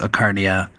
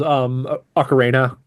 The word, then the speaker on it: Ocarina: I'm also not sure how to do the Ocarina versus Ocarnia. I'm The actual pronunciation is Ocarina, but I've been calling okay.